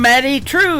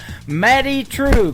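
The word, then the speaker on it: Maddye Trew: That is a brand new single from Maddie True. It is Maddye on her first name, and True is spelled Trew. Maddie True.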